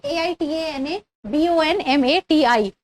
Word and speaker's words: Aitana Bonmati: Little different pronunciation. So that is Aitana Bonmati.